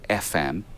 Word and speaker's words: ephem: There's basically a standard library you can get called FM. It's spelled EPHEM. It's for ephemeris.